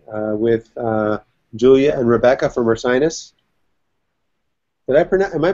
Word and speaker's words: Ursinus: And then on Wednesday at noon, I'll be chatting with Julia and Rebecca from Ursinus. Am I pronouncing that correctly?